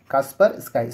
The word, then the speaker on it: Kaspersky: ठीक है, कास्पर स्काई, spelling इसका देखिएगा KASPERSKY, कास्पर स्काई।